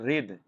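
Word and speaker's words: wreath: ছটফট করা মানে আসলো আরেকটা আছে ভালো একটা রিদ দেখো ডব্লিউ উচ্চারণ কিন্তু এখানে উজ্জ্ব থাকে রিদ হয় রিদ রিদ মানে কি ডব্লিউ আর ই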